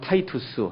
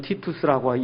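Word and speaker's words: Titus: 그 30년 이후에 40년이 지나서 AD 70년에 로마 장군, 우리가 이제 보통 디도라고 얘기해요. 우리가 디도. 이 영어식 그냥 발음으로 얘기하면 타이투스 아니면 티투스라고 얘기하는 그 장군이 들어와서 예루살렘 성을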